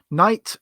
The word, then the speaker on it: knight: Night and night, pronounced exactly the same. One has a K at the beginning, and one doesn't.